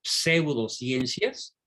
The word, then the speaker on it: pseudociencias: ciencias falsas eso significa pseudociencias bien pronunciado porque es una p seguida de una s pseudo pseudociencias que prometen